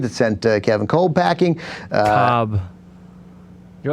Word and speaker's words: Kolb: Cobb. You're like my father. You can't pronounce any sports names. Kevin Kolb. That's true. I mean, the Kevin Kolb part.